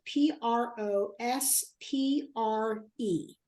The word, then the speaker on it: Prospre: I downloaded the app that's called Prosper, and it is spelled Prospre. So it's not PER like you think, but Prospre.